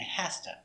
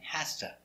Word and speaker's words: has to: will hear something different you will hear hafta and hasta never write like this never write this but that's what you hear hafta and hasta why do we pronounce